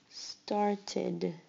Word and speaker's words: started: Started. Started. Started. You hear the id at the end.